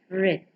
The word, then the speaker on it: read: ध्यान से देखें, रीड के संदर्भ में past and past participle form में स्पेलिंग वही है जो सिंपल प्रेजेंट फॉर्म में है, परंतु उसे हम इस प्रकार उच्चारण करते हैं: रीड, रेड, रीडिंग, रेड.